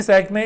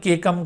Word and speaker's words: caecum: Appendix ये जिस जगह पर मौजूद है इस ब्लाइंड सैक में, इस ब्लाइंड सैक को दरअसल केकम कहा जाता है या सीकम कहा जाता है। CAECUM, इसमें ए साइलेंट होगा, तो केकम या फिर सीकम इसे बोलेंगे।